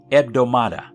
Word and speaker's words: ebdomada: The Greek word for week is pronounced ebdomada.